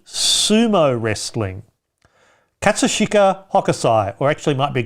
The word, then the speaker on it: Katsushika Hokusai: punk c print making or d sumo wrestling katsushika hakusai or actually might be katsushika hokusai you want me to spell it i don't know where the hell if